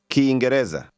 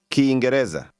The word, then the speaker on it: Kiingereza: Kiingereza. Kiingereza.